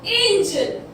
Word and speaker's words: angel: now this is angle and this is angel, दोनों की जो स्पेलिंग होती है वो फॉर्म जो है सिमिलर है, बस ई और एल में डिफरेंस है, बट बोलते क्या है, एंगल और इसको एंजल।